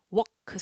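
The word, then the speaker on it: walk: work 넌 걸어야 해 alk 발음이 L 소리가 나지 않아요 그래서 워크 소리가납니다 토크 워크 이야기하다도 톡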